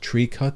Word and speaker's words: Tricot: Pronounced Tricot, if I remember correctly.